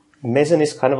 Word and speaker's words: Meson: But I'm not entirely sure what's the correct way to pronounce it if you're a native English speaker. But I just call it Meson. Meson.